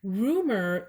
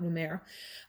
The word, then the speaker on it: Rumeur: It's actually just Rumeur, not Rumeur.